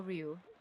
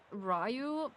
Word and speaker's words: Ryu: Of course, we are Ryu. Not Rayu because of course you just pronounce it that. I just prefer it to call Ryu.